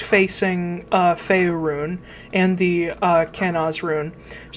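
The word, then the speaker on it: Kenaz: How does that pronounce? Hold on. Kanaz. Sometimes written as Kanaz, but it's Kanaz.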